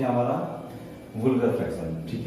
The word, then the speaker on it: vulgar: तो सबसे पहली बात तो ये है कि ये इसको वुल्गर फ्रैक्शन कहा जाता है। वल्गर फ्रैक्शन नहीं बोलते इसको बोलते हैं वुल्गर फ्रैक्शन।